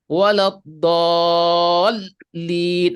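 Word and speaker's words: ولا الضالين: Waladhdallin. Nah, sehingga ketika kita dengar seolah-olah terputus. Seperti sebenarnya dia ingin menyambung antara do yang panjang ini dengan lam tasdid. Waladhdallin.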